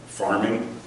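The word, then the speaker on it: pharming: There's a technique called farming. It's spelled PH, like phishing is, which basically is like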